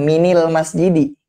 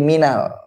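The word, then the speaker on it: مِنَ الْمَسْجِدِ: kan ketemu sama misalkan almasjidu dibacanya Bukan minil masjidi tapi Minal Nah jadi tidak semua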